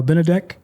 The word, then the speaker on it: Benedek: And I'm going to let you I I know how to say your name now, but uh, Benedc.